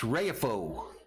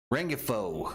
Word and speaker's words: Rengifo: gonna bring us luis rayfo next pitch up high ball i think i said this dude's name wrong rengifo 149 average one home